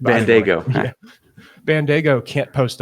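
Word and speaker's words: Bandaogo: That's Bandago is how you say it. Bandago.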